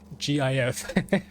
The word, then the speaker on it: GIF: creator of the GIF format has consistently stated that it should be pronounced with a soft G as in GIF.